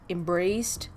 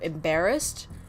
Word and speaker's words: embarrassed: So for example, he said embraced instead of embarrassed, right?